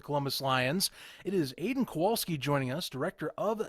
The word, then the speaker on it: Kowalski: Yep, Aidan Kowalski. Hey, I got it right. Jim pronounced the name correctly.